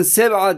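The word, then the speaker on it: سبعة: arkadaşlar 7'ye 7'nin arkadaşlar Arapçası Seba bakın Seva diye okunuyor ve gördüğünüz gibi Roma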